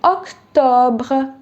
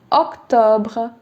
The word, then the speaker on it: octobre: Now that you know the pronunciations, it will be septembre. Septembre. October will be octobre. Octobre.